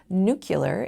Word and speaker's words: nuclear: My silly sentence included three questionable pronunciations, mis-ˈchē-vē-əs instead of mis-chə-vəs, nyü-kyə-lər instead ofˈnü-klē-ər, and lī-ˌber-ē for ˈlī-ˌbrer-ē, all of which are in our dictionaries.